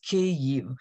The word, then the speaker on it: Kyiv: the capital is pronounced ku it's two syllables and most of the